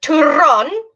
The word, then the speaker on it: turrón: So they have one called turrón. Turrón. Actually, that's upside down. Sorry about that. Turrón. That's a really funny word to say. Can you try and roll your R's like this? Like a telephone.